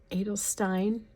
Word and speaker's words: Edelstein: December would be the Edelstein. It is not pronounced with a German accent, I know, but there's a better way of saying it, but that's how I learned it.